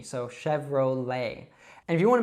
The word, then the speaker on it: Chevrolet: So although this one is American, we pronounce it like as if it were French. So we don't say Chevrolet or something like that. We say Chevrolet. So you should actually just leave off that T sound at the end and pronounce an open E.